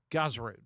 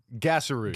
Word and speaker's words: Gaaserud: And I want to make sure that everybody across the state of West Virginia knows the correct pronunciation. Gaaserud. Gaaserud. Yes, Gaaserud.